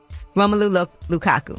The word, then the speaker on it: Romelu Lukaku: Am I saying it right? Romelu Lukaku. That's it.